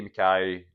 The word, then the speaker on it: MacKay: None of this MacKay, MacKay, all this stuff. It's a traditional Scottish spelling. Get it right and pronounce it right.